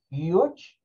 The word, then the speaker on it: huge: Bueno, una como agregando el sonido de la H. Sí, la H tiene sonido en inglés. Recuerden que se parece a una J. Es como un sonido de J. Entonces, esta pronunciación de esta palabra puede ser como huge, haciendo el sonido de la J, ¿verdad? O puede ser sin el sonido de la J, de esta H, simplemente de la, el